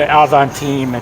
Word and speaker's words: Avantime: of the Avantime, it's pronounced.